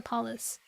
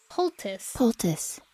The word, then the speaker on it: poultice: Then it'll be ready for the poultice. I've always pronounced it.